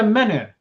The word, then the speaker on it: menhir: It's like a menhir, because it's a reference to Obelix, and he carries menhirs.